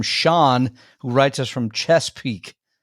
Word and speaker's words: Chesapeake: We got one more from Sean, who writes us from Chesapeake. Chesapeake. Chesapeake.